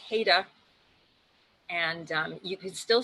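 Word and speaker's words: Haida: coast that the people the pronunciation is haita and um you can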